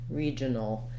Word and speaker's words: regional: short with that schwa so going as quickly as you can from the j to the region regional and then same thing with this a it's also a schwa but we don't have much vowel here either so regional no we're going to go quickly from the n to the l sound as well almost no vowel there so that's part of